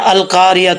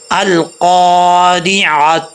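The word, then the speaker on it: القارعة: لیتے ہیں القاریہ ملقاریہ، تو یہ بہت بڑی مسٹیک ہے۔ عین کو وہ اچھے طریقے سے پڑھنا چاہیے۔ اس کا عین کا اگر تلفظ نہیں آئے گا تو پھر ترجمہ بھی صحیح نہیں پڑھا جائے گا۔ کیسے پڑھیں گے؟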